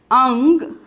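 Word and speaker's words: अंग: The mild sound of the ka letters is nya. Okay, mild sound of the ka letter is nya. So that is why we are pronouncing it as ang.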